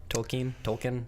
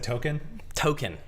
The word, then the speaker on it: Tolkien: Is that how you pronounce it, by the way? Tolkien? If Colbert says that, then yes. Yeah. I've always said token. Token. Like token, like you put like in at the arcade.